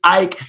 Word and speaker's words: Eick: It's spelled Eick. It looks like Ick, but it's Eick.